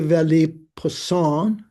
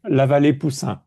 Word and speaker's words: La Vallée-Poussin: So Louis de Vallée-Poussin, did I pronounce that right, Michael? French? La Vallée-Poussin, oui.